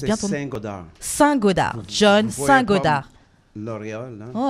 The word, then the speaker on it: Saint-Godard: Et là, aujourd'hui, avec nous, on a John Goddard. Je ne sais pas si je prononce bien ton nom. Saint-Godard.